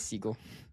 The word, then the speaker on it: Segel: Oh, yeah, it is Segel.